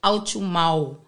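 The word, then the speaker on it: Autshumao: Yeah, because in Khoisan, remember, with the language, when it comes to vowels, when it's diphthongs, you have to pronounce each vowel individually. Oh, okay. So, yeah, his surname is Au Chu Mau.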